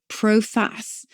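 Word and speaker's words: proface: the Middle Ages we would sometimes say proas p r o f a c but it's spelled like proace not a particularly nice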